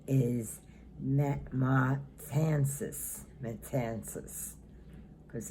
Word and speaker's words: Matanzas: monument and the pronunciation is met my Kansas metances because it's spelled m-a-t-a-n-z like in zebra a s and